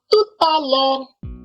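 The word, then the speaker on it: à tout à l'heure: And when we hear a friend saying it, it sounds like tu ta lure.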